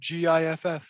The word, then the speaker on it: giff: the player oh yeah it's literally just spelled giff and then in the lore when you read the the race description it said two tribes fight over the proper way to pronounce their name either gf or gif oh my god um